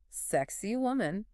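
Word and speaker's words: Sacsayhuamán: ask about this one Sak waman ah yes the site with the um interesting name you could say that that the blog actually gives a pretty funny pronunciation guide sexy woman sexy woman all right I'll remember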